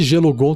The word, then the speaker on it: Gelugon: E esse Gelugon, tenho certeza que quem inventou esse nome não sabia que gelo, mas é com U, né? É gelo. É mais ou menos a mesma pronúncia de gelo, que é gelo, em português.